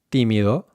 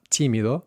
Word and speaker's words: tímido: Lastly, the T, tímido. So not tímido, but tímido, tímido.